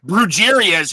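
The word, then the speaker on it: brujería: butchering it over here brujerias who I always thought so they're probably butchering it so yeah so in Spanish it's just brujeria which is like witchcraft yeah that sounds much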